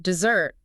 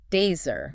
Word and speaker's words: dessert: So if you want that sweet reward, dessert, the stress is on the second syllable. Dessert.